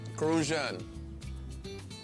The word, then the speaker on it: Crucian: refer to as crucians crucian you got to say it like that crucian a crucian person is